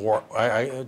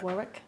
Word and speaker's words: Warwick: So tell us about your district in Warwick. Do I say it right when I say work? You're supposed to say work, right? Warwick. Warwick.